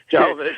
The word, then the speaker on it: Jovovich: I'm not sure how to pronounce her last name. Jovovich, thank you.